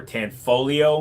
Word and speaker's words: Tanfoglio: cool it's an italian-made tanfoglio or tan folio which is how you're supposed to pronounce it uh it's called the